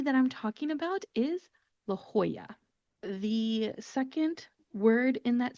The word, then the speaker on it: La Jolla: So it becomes La Jolla, Jolla when you pronounce it.